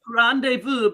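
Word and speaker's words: rendez-vous: what to pick but randevu because it's French it's a French word so you need to pick the French pronunciation oh definitely thank you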